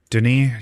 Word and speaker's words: Denis: clicking and dragging and if i use my name denis yes it looks like dennis but it's pronounced denis uh denis there we are